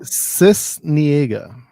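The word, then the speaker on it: Sisniega: Cisniega.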